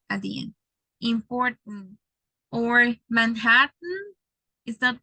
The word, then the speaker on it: Manhattan: Or Manhattan. Is that Manhattan? Manhattan. So it's like if you eliminate the last syllable and you only produce or pronounce the letter T.